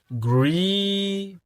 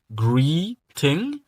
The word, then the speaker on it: greeting: Greeting. Comme le T est entre deux voyelles, je dois le prononcer comme Dans l'anglais américain ou bien dans l'accent américain.